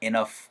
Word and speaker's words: enough: that enough 이렇게 해줄 수도 있지만 that enough That enough 하면서 이렇게 사운드 나죠.